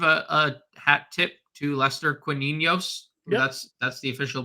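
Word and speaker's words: Lester Quiñones: going to give a a hat tip to Lester quos that's that's the official pronunciation I was listening to the broadcast tonight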